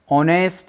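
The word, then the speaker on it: honest: यानी इस एच को ना पढ़ के हम ओ को पढ़ रहे हैं, ओ को पढ़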